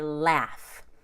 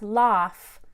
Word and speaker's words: laugh: sail off we say laughs are you laughing at me it's not loss its laugh and that short a